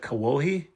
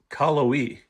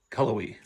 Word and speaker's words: Cullowhee: When I drop my car off in the city of Cullowhee I said Cawohie. It's Cullowhee. Cullowhee.